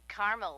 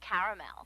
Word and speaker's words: caramel: what I said Tina actually you said caramel when it's pronounced caramel can't we just call